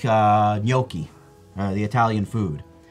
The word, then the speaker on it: gnocchi: Yeah, like, gnocchi. That's the proper way to say it. Yeah, it probably is, but like it's very... You choke on the G, gnocchi. Gnocchi. That's how you say it.